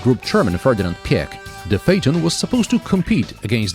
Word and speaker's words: Phaeton: phaeton should have been from the start phaeton pheton phyton it's pronounced phaeton you're welcome you can subscribe and give this